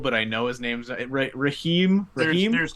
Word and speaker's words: Raheem: Is it Raheem, or am I saying it wrong? It's Raheem. Okay. Yeah, Raheem.